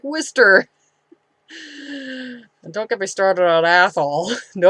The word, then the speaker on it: Worcester: put us Proust Gloucester nor looks like worchester but it's pros like Worcester don't get me started